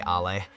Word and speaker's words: Ale: First of all, Phil, my name is pronounced Al. And I know you're trying to say ah H L A Y, but it's just Al. It's very simple to pronounce.